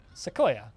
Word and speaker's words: sequoia: and type in that word uh plus sequoia sequoia okay so i am saying it right needed